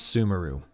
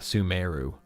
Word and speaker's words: Sumeru: The hardest one was Sumeru, as opposed to not Sumeru.